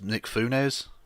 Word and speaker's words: Nick Fuentes: The fact that Baked Alaska and you've mispronounced. It's Nick Funes, please.